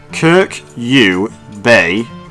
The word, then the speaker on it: Kyrkjebø: See, I can pronounce it when it's written in front of me, I just can't remember it, because it's like 5 syllables. Kyrkjebø, so it's 6 syllables. Kyrkjebø, and I'm probably not even pronouncing it correctly.